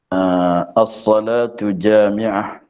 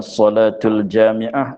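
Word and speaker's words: الصلاة جامعة: tak kenal dengan saat dengan tulisannya assholatu jamiah assholatu jamiah bukan salatul Jami'ah itu salah Sebab di outlet2 dlam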